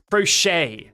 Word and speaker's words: crochet: Crochet. Okay, crochet. The T is silent. Okay, croche.